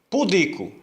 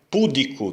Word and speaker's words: pudico: deve receber acento pudico É uma palavra paroxítona não é público Tem gente que fala público é público é uma paroxítona terminada em ó e paroxítonas terminadas em o não recebem acento pública não é pública